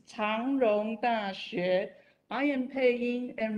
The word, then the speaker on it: 長榮: changrong christian university cjcu pronunciation in chinese is tong wrong that i am paying